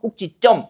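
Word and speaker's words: 꼭짓점: 이게 찌로 발음되는 건 사이 요거 안 올림 소리 때문에 찌로 발음되는 거죠. 꼭지점.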